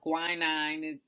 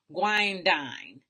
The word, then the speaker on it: guanidine: I talked about how that is the calcium or the guanidine hydroxide, or guanine, people pronounce it, but it's pronounced guanidine hydroxide.